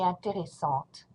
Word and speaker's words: intéressant: I do not pronounce the T, it's a masculine word.